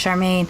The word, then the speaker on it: Charmaine: that's not my name my name's Charmaine it's not hard it's two syllables we'll never be close